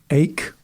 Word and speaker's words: Eijk: Recently there was a cardinal from the Netherlands, Willem Eijk, I think is how you might pronounce his name.